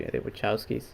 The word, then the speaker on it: Wachowski: I'm trying to not be too hopeful, because I don't like the other movies that these directors made, the Wachowskis, or I don't know how to pronounce their name.